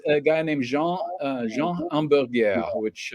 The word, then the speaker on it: Hamburger: guy named Jean Jean Amur which spelled hamburger but is not pronounced hamburger and he was another